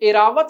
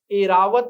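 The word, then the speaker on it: ऐरावत: प्रयोग करना पड़ेगा और उच्चारण भी सुधारना पड़ेगा एरावत नहीं क्या नाम है ए रावत द्वारका बिल्कुल सही शुद्ध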